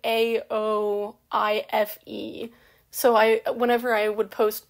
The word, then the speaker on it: Aoife: Like, for Aoife, hers is, like, Aoife.